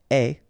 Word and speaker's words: es: Okay, so je suis, final S not pronounced, tu es, okay, so it's quite strange because you get this ES, but then phonetically it's est, alright, quite open, tu es.